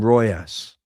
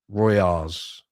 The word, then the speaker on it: Riojas: They call him Royas, but I'll go with if however he wants it pronounced. I'll go with that. Ends like Hagen Dazs, so Royas.